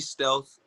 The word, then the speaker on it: Stealthr: stealth correct call me stealth the r at the end is silent it's spelled stealth r